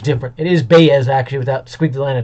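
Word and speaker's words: Báez: kind of sounds like an eye but is pronounced different it is baez actually without squeaky land on top of the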